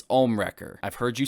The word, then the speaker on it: Ohmwrecker: you mispronouncing the names it's not omnimaker it's ohmwrecker i've heard you say